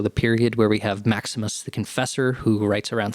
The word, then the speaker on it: Maximus: Or Maximoff? Yeah, it's Maximus.